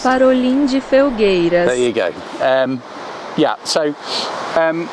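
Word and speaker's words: Farolim de Felgueiras: So I'm going to let Google tell you how it's pronounced. Parolim de Felgueiras.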